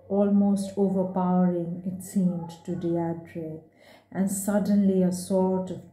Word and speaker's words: Deirdre: Deirdre, her heart gave a leap and then stood still. Only one person had ever spoken her name like that, with a faint stress on the first syllable that made of it a caress.